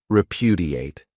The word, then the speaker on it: repudiate: great verb is repudiate this verb has four syllables and the stress is on that second syllable repudiate this means to reject